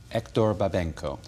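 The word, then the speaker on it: Héctor Babenco: read the script initially what is the correct pronunciation of your director's name hector babenko hector babenko when mr babenko submitted the script to you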